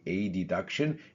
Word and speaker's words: adduction: inward, meaning adduction, adduction, but to make it obvious in the pronunciation, we say adduction, and you push backwards,